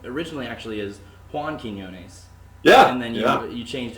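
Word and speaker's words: Quiñones: me but it is it's john quinones i always make a big effort though to pronounce quinones and his way it should be um and so now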